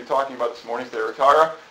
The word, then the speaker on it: Thyatira: It's Thyatira.